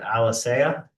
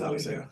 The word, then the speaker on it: Alisa: Is it Alicea? It is Alisa.